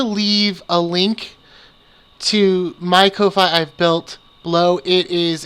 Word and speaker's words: Ko-fi: But then I learned of something called Ko-Fi, or Coffee. It's just spelled with a K for some reason.